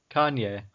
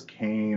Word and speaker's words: Kanye: Kanye. The N comes before the Y. K-A-N-Y. Okay, I thought it was Kane or what? Con? Con? Kanye!